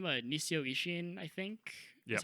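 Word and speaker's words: Nisio Isin: Nisio Ishin, I think. Yep. That's how you pronounce it.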